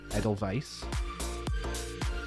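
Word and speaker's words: Edelweiss: Edelwise like in German the W German German in other language right W is pronounced like V so edel vice ta t t t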